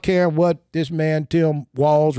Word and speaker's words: Walz: I'm not caring what this man, Tim Walz, rhymes with balls.